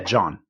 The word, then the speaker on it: Jawn: It's spelled Jawn. Yeah, John. They have something called long hots.